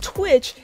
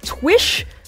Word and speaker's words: Twich: It's not Twitch, it's like Twish? Twish? There's no extra T in there.